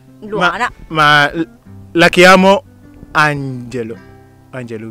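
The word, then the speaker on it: Luhana: Beh, è particolare perché ci hanno messo la H di mezzo e quindi L-U-H-A-N-A. Luana.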